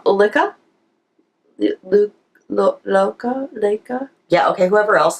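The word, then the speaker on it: Lykke: It's not called Likey. No. It's called Lika?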